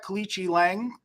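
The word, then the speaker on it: Aoriqileng: This on the surface, if you look at Kalichi Lang, that's how they say his name, he's 0-2 in the UFC.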